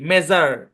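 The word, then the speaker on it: measure: খেয়াল করেন এম ই এস ইউ আর ই উচ্চারণ কি মেজার হ্যাঁ পুরোটা মিলে একসাথে এটা কোন ভাইঙ্গেন না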